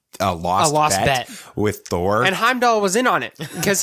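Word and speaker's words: Heimdall: of the guy the the bridge Heim doll is how it's pronounced okay I I don't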